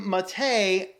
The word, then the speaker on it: MATE: in gnome - but it developed the name matei because we did not want to say gnome